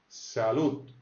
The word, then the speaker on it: salud: Salud, salud. Alors le D se prononce quasiment comme un T à la fin.